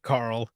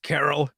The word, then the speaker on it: Carol: carol ends up saying my name is not carl it's carol this thing makes me